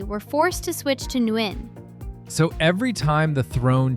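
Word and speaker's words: Nguyễn: Roughly Nguyen. 1 syllable.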